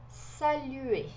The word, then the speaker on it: saluer: Este R aqui, ele não é pronunciado. A pronúncia é de E fechadinho, como se fosse no português o E com circunflexo. E, saluer, tá?